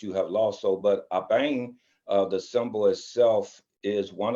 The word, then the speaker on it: Aban: And so that's actually pronounced Abang, and it's from the Akan Adinkra symbols of many of us